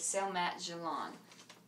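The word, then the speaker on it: selamat jalan: a handshake and then goodbye is s mat galon and then the next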